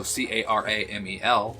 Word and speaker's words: caramel: There's 2 A's in caramel. C-A-R-A would be cara. So C-A-R-A-M-E-L would be caramel.